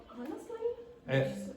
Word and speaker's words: honestly: He answered the question honestly. Honestly, which surprised everyone. Okay, so just be careful. In the second word, it's answered. Don't pronounce the W, and you must not pronounce the H in honestly.